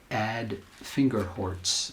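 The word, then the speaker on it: Ad Vingerhoets: nature um Dutch psychologist ad finger hortz is the way we say his name um found in his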